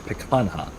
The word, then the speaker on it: picanha: Um, picanha. Or picanha, depending on if you pronounce it phonetically, uh, English phonetically, or if you pronounce it how it's more or less supposed to be pronounced, at least I think.